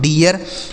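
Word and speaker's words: deer: तो D double E आर इसे पढ़ा जाता है दोस्तों डियर।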